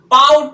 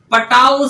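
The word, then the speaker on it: Patau: फिर आगे कह रहे हैं पा से क्या होगा, पाउट सिंड्रोम। क्या? पटाउ syndrome. पटाउ syndrome. और वही यहां है तो वही है साइलेंट।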